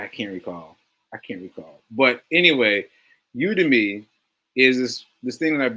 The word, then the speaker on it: Udemy: Put put something in my store on Udemy. Udemy. It's spelled the a Y EMI.